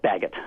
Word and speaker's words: Baggett: Bart Baggett, you say Baggett, right? Yes, Baggett.